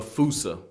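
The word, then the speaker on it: fossa: Bane to lemur everywhere the fousa although with its spelling I'm pretty sure it's actually FAA but the day I pronounce it like like that is the day I lay my childhood to rest the fousa is pretty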